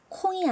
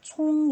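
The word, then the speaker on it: 聪: 때 어떻게 읽어야 할까요 콩이 아닙니다 총 이에요 이건 콩이 라고 읽으시면 안됩니다 총 이라고 읽으셔야 되요 자른 읽어 볼게요 소민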